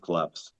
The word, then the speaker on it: KLPS: And after a little while, we decided to just rebrand it to call ourselves KLPS, but it's still pronounced collapse.